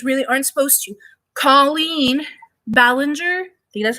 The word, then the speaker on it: Ballinger: ways that influencers really aren't supposed to colleen ballinger do you that's how you pronounce her last name aka miranda sings got